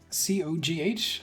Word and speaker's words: Cogh: C-O-G-H? If that's supposed to be pronounced differently. It's Co. Hey, Co. Co. Okay. All right. No, because there would be a U if it was supposed to be cough.